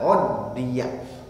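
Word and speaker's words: عُدِّيَ: Bacanya innama uddiya.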